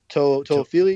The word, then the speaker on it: Toafili: So, I really like I may mispronounce his name, but Toafili. Toafili, you got it.